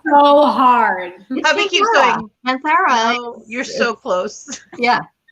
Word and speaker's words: Kanthara: Kanthara. Yes. It's written in the description because I know how to spell it better than I can say it, because I've been typing it a few times.